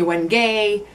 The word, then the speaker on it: wenge: And so I looked it up a little bit ago, and I saw Wenji, which like rhymes with Benji. And so I'm going with Wenji. But apparently Wenge or Wenge, it's all used, but I'm going with Wenji.